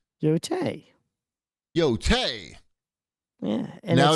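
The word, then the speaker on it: Yōtei: How is that pronounced? Yotei.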